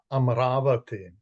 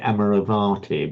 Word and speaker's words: Amaravati: No, no, it could be Amaravati. The Ah, okay. It could be, right? Amaravati. Right. I'm so glad you you um you you pronounce that. So many people say amorovati but amaravati is the correct sukavati and the mean